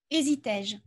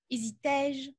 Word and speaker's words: hésitais-je: Chantais-je, dussais-je, hésitais-je. Voilà. Il est vrai qu'on prononce est. Et du coup, comme on prononce est, il y a la modification de l'orthographe de 1990 a accepté l'emploi de l'accent grave.